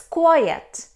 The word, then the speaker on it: quiet: It's quiet. Quiet. It means still, silent. But the pronunciation and the spelling are different. Quite, quiet.